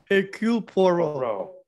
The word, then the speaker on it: Hercule Poirot: How do you pronounce it? Hercule Poirot. Hercule Poirot.